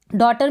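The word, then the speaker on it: daughter: डॉटर में क्या है, GH से पहले यू आ रहा है, तब हम डॉटर पढ़ रहे हैं। GH का आपको प्रोनाउंसिएशन बिल्कुल भी नहीं सुनाई दे रहा होगा, डॉटर।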